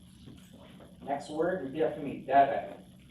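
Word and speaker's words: דרך: Derek. That's on the first syllable.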